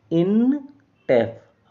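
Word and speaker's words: Intef: तो इस प्रकार से इसका उच्चारण बनेगा इन टेफ।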